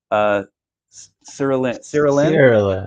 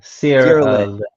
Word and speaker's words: Cyrelin: Cyrelin. Cyrelin.